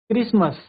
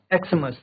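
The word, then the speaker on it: Xmas: बट इट is usually pronounced bye क्रिसमस नॉट एक्समस।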